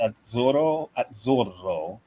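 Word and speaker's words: Azzurro: Italian pronunciation is weird. When you get two letters, you you pronounce the the letter at the end of the first syllable and then at the beginning of the next syllable. So, it's at zoro.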